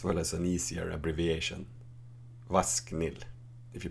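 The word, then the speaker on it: ВАСХНИЛ: Vasknil, if you pronounce it.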